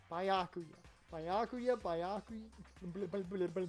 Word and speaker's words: Byakuya: Byakuya. That's how you pronounce it. Byakuya.